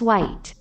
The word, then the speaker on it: white: 영어 발음은 H 소리 안 나. 화이트. 근데 왜 화이트라고 말하는 사람? 화이트라고 말하는 사람도 있는데 그건 영어 발음으로선 잘못된 표현이야.